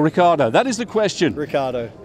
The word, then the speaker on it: Ricciardo: Ricciardo. It's Ricciardo. Second eye is silent.